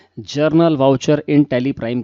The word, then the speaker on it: journal: हैं German voucher की कुछ लोग इसे जनरल वाउचर कहते हैं जनरल तो यह जनरल नहीं है यह जरनल है जरनल तो याद रखिए इसका प्रणाम सेशन जज है उच्चारण जरनल करना है जरनल वाउचर इन टैली